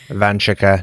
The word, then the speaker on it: Vanshika: How are you, Vanchika? I'm good. Did I get your name right? Yes, you did. Nailed it. Vanchika. No stressed syllables.